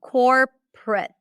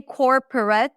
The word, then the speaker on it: corporate: Corporate. There are two syllables in this word. Corporate. Prit. So it's not even awah. It's nothing.